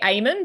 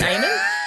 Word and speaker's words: Eamon: Iman. And this is actually, see, I say Eamon because we've got an Australian swimmer. Oh, get to your point. And he pronounces it Eamon.